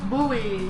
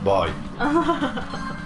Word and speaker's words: buoy: Because that's how it's pronounced. Buoy. No, boy.